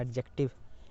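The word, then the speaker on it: adjective: एडजेक्टिव, इसको हम पढ़ते हैं एडजेक्टिव, डी यहाँ पे साइलेंट होता है, एडजेक्टिव नॉट एडजेक्टिव, एडजेक्टिव D silent होता है यहाँ पे, ठीक है।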